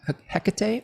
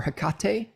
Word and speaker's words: Hecate: We have a spirit with Cancer 3 called Hecate or Hecate, depending on how you pronounce it, who is a spirit of the crossroads.